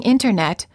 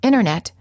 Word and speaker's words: internet: The T after an N or an N sound is often silent. Instead of saying internet, you will frequently hear Americans say internet. This is fairly standard speech, and it's not considered overly casual or sloppy speech.